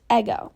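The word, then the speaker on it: ἐγώ: common in ancient Greek it's pronounced ego like the waffle and it means I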